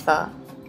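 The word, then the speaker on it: phở: be as F and to say it like you're asking a question I find F and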